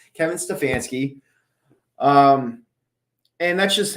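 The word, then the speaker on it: Stefanski: you say his name Kevin stefansky um and that's just how what it comes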